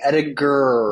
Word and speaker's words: Ediger: Hard G or soft G? Hard G. Ediger. Ediger.